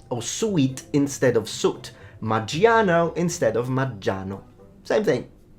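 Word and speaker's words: Maggiano's: It's Maggiano, not Maggiano. We don't pronounce the I.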